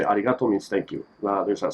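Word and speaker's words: ありがとう: arigato but yet again there is no r it's pronounced as el so arigato arigato yeah a lot of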